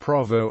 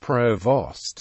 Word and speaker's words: provost: The British Army pronunciation is prévôt, though the U.S. Army pronunciation is provost as written.